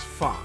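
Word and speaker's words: phở: a steaming bowl of fox pronounced fa the sole satisfying noodle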